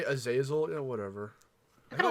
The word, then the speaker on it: Azazel: Tekken Tekken six was I thought it was a Zazzle and to find out the announcer pronounce it is Azazel but yeah some of the characters in Universe later on in other games call it Azazel yeah it's it's true